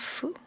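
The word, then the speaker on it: フ: we have ha he but instead of who we have foo it's kind of a mix between an h and an f sound but it sounds closer to foo than it does to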